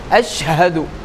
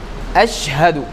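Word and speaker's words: أشهد: அஷஹது அஷஹது அப்போ அலிபோடிய பொறுத்தவரைக்கும் ஐன் சவுண்ட் வந்துரக்கூடாது. அடுத்த ஷீனு நல்லா கெட்டியான முறையில ஒரு டாட் வச்சு நம்ம கொண்டு போகணும். ஹாவ பொறுத்தவரைக்கும் வெயிட்டினுடைய பகுதியில இருந்து கொண்டு வரணும். இதான் இதனுடைய உச்சரிப்பு அஷஹது அதே மாதிரி தால் ஒவ்வொரு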